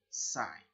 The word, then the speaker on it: psi: that is A3 sine psi. Now, take note of this. This symbol here is a Greek letter pronounced phi and spelled P-H-I. This symbol here is another Greek letter pronounced psi, spelled P-S-I.